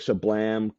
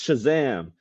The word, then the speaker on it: Shazam: So he purposely mispronounces Shazam. So he says like Shablam, Kazam, and then Black Adam gets so annoyed with him. He's like, "No, you idiot! It's Shazam!"